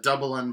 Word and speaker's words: Dublin: The Dub-a-lin pronunciation.